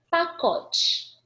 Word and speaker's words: pacote: Pacote. Pacote. Pacote, né? É porque a gente pronuncia o ezinho com esse som de i.